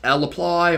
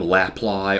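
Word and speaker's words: lapply: to show you two of them here that's l apply or s supply uh you may hear me calling them laplay or saply just because you can pronounce them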